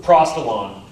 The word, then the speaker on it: Prostalon: Prost, like prostate, and then Elan. Prostelan.